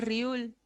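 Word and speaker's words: 리을: Riul es la letra, para nosotros, es la letra R, ¿ya? Para ellos hace una semejanza o sustituye estos sonidos, la R y la L, ¿ya? Al principio, cuando está la riul, va a ser una R. Cuando esté al medio, va a ser una L. Y cuando esté al final, va a ser una R, en la mayoría de los casos.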